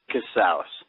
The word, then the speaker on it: Casaus: How do we pronounce your last name? Casaus.